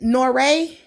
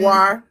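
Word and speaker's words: Noire: She wrote she wrote is it is it Noray? She wrote G-spot and Noir.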